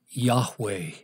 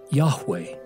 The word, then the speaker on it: Yahweh: But the Hebrew would be pronounced something like Yahweh, and is built on the word for I am.